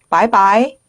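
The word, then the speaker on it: 拜拜: 네, 사성 경성으로 빠이빠이, 빠이빠이가 되는데, 자, 이성으로 더 많이 사용합니다. 같이 해보실까요? 빠이빠이, 빠이빠이, 밍밍, 빠이빠이.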